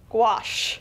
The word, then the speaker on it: gouache: have to offer and it's pronounced squash gouache i'm going gonna say